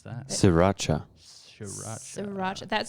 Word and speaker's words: Sriracha: What does he think about Shiraka hot sauce? Oh. How do you pronounce that? Sriracha.